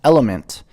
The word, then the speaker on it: LMNT: journey as a mom lmnt pronounced element is a tasty electrolyte